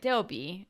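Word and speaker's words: 더비: Or Deobi. Deobi in Korean. So that's how it's pronounced.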